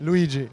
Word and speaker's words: Luigi: your name my name is luigi luigi luigi luigi i've got it right that's the right pronunciation thank you thank you so your take